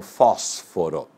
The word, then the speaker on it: fósforo: E proparoxítona, aquela que tem a penúltima, a antepenúltima sílaba mais forte, melhor dizendo, como acontece com fósforo.